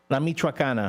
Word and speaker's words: La Michoacana: La Michoacana? La Michoacana.